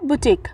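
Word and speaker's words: boutique: जाता है ठीक है हमारा अगला वर्ड है बुटीक बुटीक बी ओ यू टी आई क्यू यू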